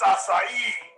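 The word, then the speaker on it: açaí: this fruity tooty crap you said it wrong it's acai yeah listen here sonny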